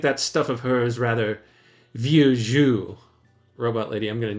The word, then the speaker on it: vieux jeu: Well, I must admit, said one of the Clevers, now that she has gone, that I think that stuff of hers rather vieux jeu.